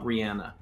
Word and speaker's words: Rihanna: are all about research it's lemon for uh Rihanna lemon not lemonade oh listen Sam I